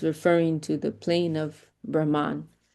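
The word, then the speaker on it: Brahmā: But it is this is why diacritics are so important, because that Brahma, it has a long A there.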